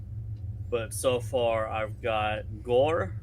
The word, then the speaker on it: gor: But so far I've got Gore, which is hammer, spelled G-O-R, pronounced G-O-H-R.